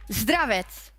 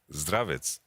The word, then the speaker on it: Zdravets: And I was just checking, and I asked Yamato as well, how to pronounce Hilly's first name correctly. Zdravets. Yeah, you did pretty good. Nice. You do it. Zdravets.